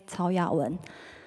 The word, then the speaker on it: Cao Yawen: My name is Olivia, and the pronunciation of Chinese name is Cao Yawen.